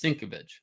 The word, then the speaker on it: Sienkiewicz: So, Bill Sienkiewicz, correctly, if anybody pronounces his name correctly, it's Sienkiewicz, came from Continuity Studios.